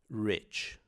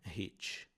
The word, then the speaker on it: rich: Ele é o retroflexo, um som retroflexo que você enrola a língua para pronunciá-lo. Então você tem rich. Rich, OK? Então não é hit.